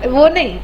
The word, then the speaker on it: one: Spelling क्या आता है लिखते वक्त? ONE आता है, राइट? सही है, लेकिन हम लोग बोलते वक्त कैसे बोलते हैं? बोलो जरा, इसको बोलो। वन।